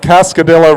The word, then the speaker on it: Cascadilla: welcome to the charles they know that cascadilla rhymes with godzilla crew 42 is the